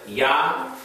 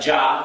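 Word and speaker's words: יה: and this is translated Yah. From the Gutenberg Press, we have this spelling. Looks like Jah. Sounds like Jamaican reference to God, right? Jah. But the Germans pronounce the J as a Y, just like they the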